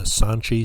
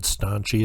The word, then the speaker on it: Sanchi: in 1822 at the sanchi site i might have said staunchy at the beginning don't want to start mispronouncing things here is some art